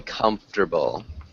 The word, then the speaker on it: comfortable: then when we say comfortable this is a tough one sounds like comforter exactly like that can you say it